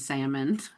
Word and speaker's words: salmon: You might as well pronounce the L and salmon.